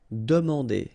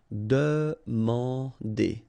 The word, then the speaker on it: demander: So same thing here, remember, demander. And here you've got this nasal here, A-N, en. Demander.